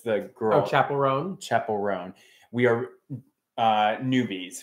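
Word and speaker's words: Chappell Roan: um yeah um are you how do you pronounce that chaperel fans where it's the girl oh chapelon chapelon we are uh newbies we just started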